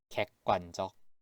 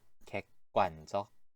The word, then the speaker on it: 객관적: 두 번째 그리고 세 번째 글자 그 발음하고 즈 발음이 다들 끄, 즈로 변하게 될 거예요. 같이 읽어볼게요. 객관적.